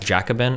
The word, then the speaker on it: Jacobin: or or russia today or something yeah it's pronounced jacobin okay jacob yeah it's just total trash but